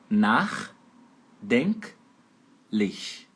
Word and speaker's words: nachdenklich: A pronúncia é assim, ó, dessa última palavra é nachdenklich. Nachdenklich. E a sílaba tônica é a primeira, fica em cima do A.